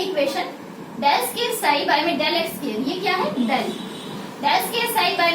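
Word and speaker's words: psi: साई क्या है, जो यहाँ पे ये ऐसे ये बना हुआ है, इसे हम साई बोलते हैं, पीस में साइलेंट होता है, इसे क्या बोलते हैं, वेव फंक्शन बोलते हैं।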